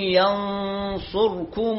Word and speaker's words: ينصركم: آخر كلمة لهذا اليوم الآية 71، الصفحة 71 والآية 160، إن ينصركم الله، ينصركم الله، الراء وقعت بين مضمومين، ما نقول إن ينصركم، لا، الراء ساكنة، إن ينصركم الله فلا